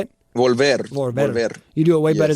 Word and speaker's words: Volver: Volver.